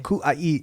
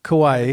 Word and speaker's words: Kauai: I don't even know how to pronounce it yet, so you'll have to pronounce it for me. Kauai. Literally. Kauai.